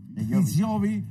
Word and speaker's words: Di Giovi: Di Giovi, este es el que lo vamos a pronunciar en italiano.